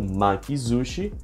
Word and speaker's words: makizushi: se junta os kanjis, algumas sílabas vão receber o tenten na fonética, que transforma o S num som de Z. Então, su fica zu. Então, makizushi, sushi enrolado.